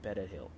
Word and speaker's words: Perejil: If one individual was unable to roll the R in Perejil, the Spanish word for parsley, then they were slaughtered.